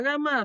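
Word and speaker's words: γάμμα: pues lo pudieran practicar cómo se pronuncia la gama bueno la gama siempre se pronuncia como una g pero no como una g nuestra sino como la g de gato lage suave o sea que es la que digo siempre el sonido de g suave nunca el sonido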